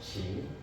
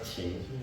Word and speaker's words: Qin: Come to 2013, BYD launched Qing. So, how do you pronounce this word? Q-I-N? King. So, actually pronounced Qing.